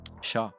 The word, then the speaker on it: Shah: Uh yeah, pronunciation quickly and of your last name. Sha.